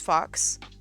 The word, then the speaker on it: Phaux: I would probably say it as fox, but I'm also like a furry weeb, right?